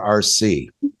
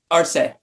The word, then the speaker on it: Arce: Do you pronounce it Arce or RC? Arce.